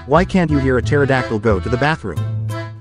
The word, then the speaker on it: pterodactyl: Why can't you hear a pterodactyl go to the bathroom? Because the pee is silent.